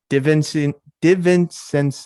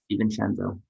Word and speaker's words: DiVincenzo: I'm going to butcher this name because I can't pronounce it. Divincent. I can't even pronounce it, dude. DiVincenzo.